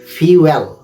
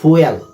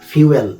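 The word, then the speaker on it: fuel: pronunciation টা খেয়াল করুন এফ ইউ এল ফিউল নট ফুয়েল আমরা অনেক কিছু উচ্চারণ ভুল করি আমি বিস্তারিত আলোচনা করব যখন আমি টপিক নিয়ে কথা বলব এটার উচ্চারণটা হলো ফিউল এফ ইউ এল ফিউল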